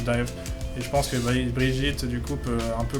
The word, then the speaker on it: Brigitte: Alors la prononciation c'est Brigitte.